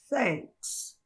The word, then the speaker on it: thanks: Você simplesmente thanks.